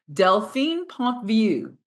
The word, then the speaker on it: Delphine Pontvieux: anymore and today we have a marvelous guest deline Pont view did I pronounce it correctly yes fantastic i' I've heard